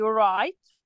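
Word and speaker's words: write: ال W في الاول، ال W في الاول زي right right، انا اول حرف نطقته ايه لما اقول right؟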